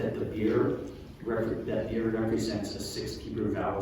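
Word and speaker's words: bir: So, the Turkish word for one is beer.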